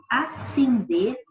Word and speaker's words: ascender: Por exemplo, a palavra acender, que tem esse Szinho aqui antes do C, pronuncia da mesma forma que acender, que não tem o S antes do C.